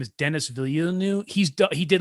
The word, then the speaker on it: Villeneuve: The guy who did, I want to say his name is Denis Villeneuve.